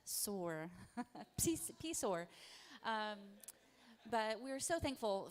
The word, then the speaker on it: PSOAR: Otherwise, you can join our mailing list, but the P is silent. SOAR.